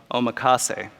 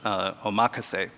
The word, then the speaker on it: omakase: even more true of omakase or actually I just learned that it's probably pronounced oh macha say but anyway the way